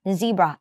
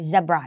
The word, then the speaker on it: zebra: Zebra นะ คะ หรือ Zebra ออก ได้ 2 เสียง นะ Z หรือ zab ก็ ได้ แต่ อย่า ลืม ตัว